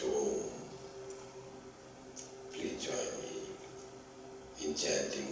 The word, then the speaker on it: Om: Let us now repeat the holiest of the word, the symbol of God, the Pranava, which is pronounced as Om.